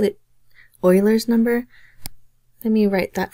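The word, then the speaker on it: Euler: some people call it Oiler number let me write that for you his name is pronounced Oiler and it's spelled with an E so that's where we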